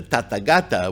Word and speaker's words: Tathagata: tata gata because the tata gata which is the proper way to say it not buddha the tata